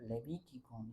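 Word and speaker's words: Λευιτικόν: 그 다음에 로이티콘이라고 하는데 로이라는 말이 윕실론이 이제 라틴어로 가면 V로 발음되거든요. 그래서 로이티콘이 아니라 레비티콘 이렇게 바뀌었어요. 그래서 레위기는 사실 제사장의 일들이 많은데 레위인들의 책이라고 이렇게 이야기합니다.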